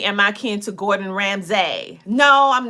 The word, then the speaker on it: Ramsay: The correct pronunciation of my last name is really not Ramsey. It's Ramsay.